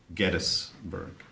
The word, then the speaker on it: Gettysburg: Yes, that's how it's pronounced, Gettysburg.